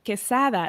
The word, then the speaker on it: Quesada: And then my first last name is pronounced quesada, like quesadilla.